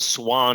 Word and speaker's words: Swane: talking about your name which is pronounced swan even though it has a ultra silent e on the end correct that is correct